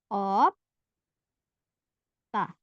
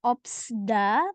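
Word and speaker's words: 없다: Op, ta. Kita ambil yang ini ya. Opta. Jadi bukan dibaca opsda, tapi opta.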